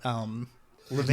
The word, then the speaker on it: Levin: Is that Levin yes, is the it Chicago way of pronouncing it?